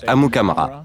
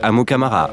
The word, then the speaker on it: Amukamara: à écrire qu'à prononcer à m comme dans mary uca am comme dans mary à ra au nigeria on dirait amukamara et aux etats-unis ont dit amo camara ou amukamara depuis cinq ans dans